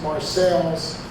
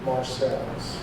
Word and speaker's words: Marseilles: It's still there, and it's pronounced Marseilles. Neither Dan or I have any idea why. Then as now, local people pronounced it Marseilles.